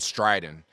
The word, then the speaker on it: Stridyn: There's a new cloud platform that's coming to the market, and it's driven by artificial intelligence called Stridyn, and that's spelled S-T-R-I-D-Y-N.